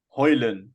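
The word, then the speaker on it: Højlund: rasmusulin who's just sorry hoyland that's how you pronounce the d is silence apparently yeah Johnny Evans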